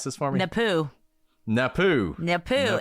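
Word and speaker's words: Napue: Napoo. Napoo. Napoo. It is exactly like you would not think it's pronounced. Yes. Napoo.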